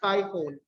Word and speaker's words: Typhon: it was typhoon the name of the iphone is spelled as t-y-b-h-o-n that's typhon e-y-h-o-n yes typhon may have been acknowledged as